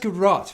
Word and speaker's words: garrote: now and then you just have to have garrote you have a garage as well wow they're garat brothers you guys have the amulets and the girls oh it's pronounced garat well i am yes you may or may